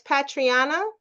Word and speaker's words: Patreinnah: First of all, Patrian, I asked you to pronounce your name so I wouldn't keep mispronouncing it. No, it's okay. It's Patriana.